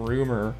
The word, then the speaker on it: RMR: So actually, we're gonna go ahead and play some Rumor real quick. That's how you pronounce RMR's name.